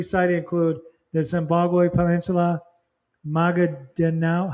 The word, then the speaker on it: Maguindanao: Areas specifically cited include the Zimbabwe Peninsula, Maguindanao. How do you say that, Mom? Maguindanao, and North Cotabato.